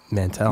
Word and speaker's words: Mantel: Mantel. Mantel. Yeah. Man. Oh, not Mon. It's Man. Yeah.